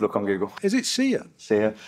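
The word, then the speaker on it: Saor: Is it seer? Seer. It's Scottish. It's Gaelic. Oh, is it? Yeah. So, and it's pronounced seer.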